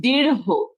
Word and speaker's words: দীর্ঘ: বল আমি জানিনা এইযে এটার সঠিক সঠিক উচ্চারণ হবে দীর্ঘ হ্যাঁ দীর্ঘ শেষে একটা